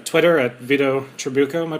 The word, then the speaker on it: Vito Trabucco: sure to follow veto on H Twitter at Vito truko am I pronouncing that right yeah you are good all